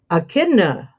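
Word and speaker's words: Echidna: Let's see how to pronounce E C H I D N A and Akidna the Akidna hooping station.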